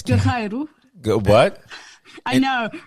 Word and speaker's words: Guerreiro: It's Guerreiro. In Portugal, it's Guerreiro.